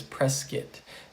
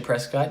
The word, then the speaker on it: Prescott: this is not prescott think of it like biscuit it is press skit do not say prescott you will be corrected